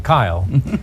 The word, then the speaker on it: Kyle: It was produced by Dino De Laurentiis, and Dino was unable to pronounce my name, Kyle, and he pronounced me Gale. He said Gale because he had a very particular type of voice. Well, David was tickled by this, so he started calling me Kale as well.